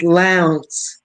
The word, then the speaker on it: Lowndes: Okay, it's Lowndes.